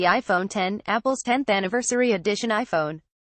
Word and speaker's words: iPhone X: it has to be the iPhone X pronounced as the iPhone 10 Apple's 10th anniversary edition